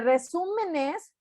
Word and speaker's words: resúmenes: Resúmenes es una sílaba esdrújula porque digo resúmenes, no digo resúmenes, ni digo resúmenes, ni digo resúmenes, digo resúmenes.